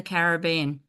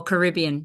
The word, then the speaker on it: Caribbean: from Trinidad in the Caribbean or Caribbean depending on where you like to how you like to pronounce that uh it's just off